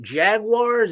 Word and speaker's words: Jaguars: Jaguars or Jaguars? Jaguars. Or Jaguars? Jaguars. It's like the car, Jaguar.